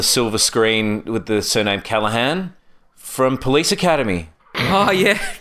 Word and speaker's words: Callaghan: I'm like, you say it like Callaghan.